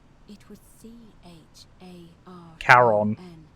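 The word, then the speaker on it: Charon: it's just as you described it only your pronunciation is a little off the name you heard wasn't karen it was c-h-a-r caron called it the boatman yeah who in exchange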